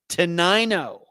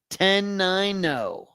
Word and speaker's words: Tenino: Tenino. Really? Tenino, that's how you pronounce that, Ferry? Really? Tenino.